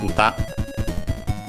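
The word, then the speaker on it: 歌: In our case, uta. Let's check its accent, but it means song or also singing. Okay, is accented on the last syllable, uta.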